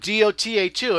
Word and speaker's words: Dota: I kept calling it DOTA2, and Jack's like, Daddy, it's pronounced Dota.